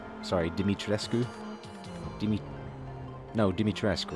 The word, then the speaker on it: Dimitrescu: It's the Lady Dimitrescu. Sorry, Dimitrescu? No, Dimitrescu, right? You don't pronounce the U. Dimitrescu.